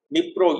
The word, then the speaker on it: Dnipro: Dnipro, and then come, Dnipro you call it, D is silent, and come right onto the eastern bank of Nipir river.